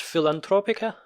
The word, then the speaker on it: Filantropica: Yes, we are going to talk about as we mentioned in the beginning, a Romanian film called how would you pronounce it? Filantropica.